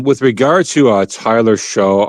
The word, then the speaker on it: Shough: Um, with regard to uh Tyler Show, I know I don't pronounce his name right, but Tyler Sh. Yeah. Tyler Shucks. Yeah. Yeah. Yeah, it throws me off because it just doesn't look like it sounds.